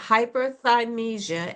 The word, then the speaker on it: hyperthymesia: Now, you have something called hyperthymesia, and help me if I'm not pronouncing that Yeah, that's right.